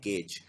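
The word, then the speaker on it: gauge: अगला गेज करना, इसको प्रोनाउंस करते हैं गेज।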